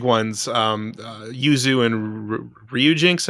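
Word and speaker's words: Ryujinx: um uh Yuzu and Ryu Jinx I believe is how you say it uh you know they're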